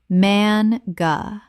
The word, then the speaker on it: manga: ka-re-o-ke karaoke Word 202 manga Common mispronunciation man-ga Correct pronunciation man-ga Two syllables with the stress on the first. The A is short, not long.